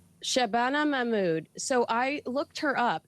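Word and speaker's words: Shabana Mahmood: Uh Shabbana Mammud. Shabana Mammud.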